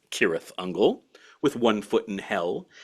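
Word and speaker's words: Cirith Ungol: Trad metal bands like the great sirth unle which should properly speaking be pronounced kirth unle with one foot in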